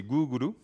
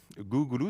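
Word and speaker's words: グーグル: le deuxième mot c'est googlou gouglou c'est la façon de prononcer Google à la japonaise et vous remarquez qu'ici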